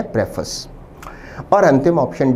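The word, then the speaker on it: preface: उच्चारण पर ध्यान दें। उच्चारण है प्रेफस।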